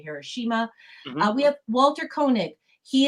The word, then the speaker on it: Hiroshima: the bombings of hiroshima i think americans say hiroshima here we say hiroshima we have walter koenig